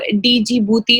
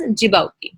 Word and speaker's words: Djibouti: the horn of africa this is not called as djibouti or dg bhuti or something like that it is pronounced as as djibouti so this was a